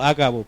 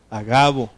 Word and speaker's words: Agabo: un profeta llamado qué a Gabo No hagabo porque no lleva acento en la Okay a Gabo quien viniendo a vernos